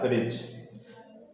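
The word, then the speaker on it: fridge: क्या आ रहा है, डी और जी, तो यहाँ पर डी क्या हो गया, आपका साइलेंट लेटर हो गया, तो इसका प्रोनाउंसिएशन क्या बन जाएगा, फ्रिज।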